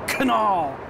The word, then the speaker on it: Knoll: I'm Thomas Kuh-null. You definitely say the K. We like to spit when we talk in Germany. So, Kuh-null. That would be pronounced Didymus TK.